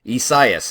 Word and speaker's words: Isaias: I keep forgetting how to pronounce this. Isaias. There we go, yes. I'm going to get this right one of these times. Isaias is how you pronounce this.